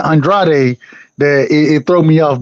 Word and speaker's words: Andrade: What you say his name is, bro? Is it Andrade? It's Andrade.